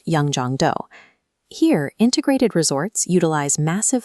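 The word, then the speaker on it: Yeongjongdo: The first layer of this intervention sits on Yong Jong Island, pronounced Yong Jong Do.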